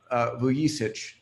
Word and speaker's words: Vuyisich: I don't uh uh vuich is the proper pronounciation um Momo is co-founder